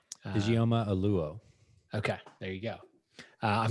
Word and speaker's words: Ijeoma Oluo: And I don't know how to pronounce the woman's name. Ijeoma Oluo.